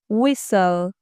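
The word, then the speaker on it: whistle: ویو ول حرف تی تو این کلمه خونده نمیشه وسل سوت سوت سوت زدن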